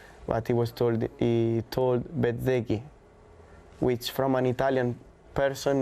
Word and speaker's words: Bezzecchi: Depends from which part of Italy you come from. Where I'm coming from, the Z is not really well pronounced. So Bezzecchi. Bezzecchi.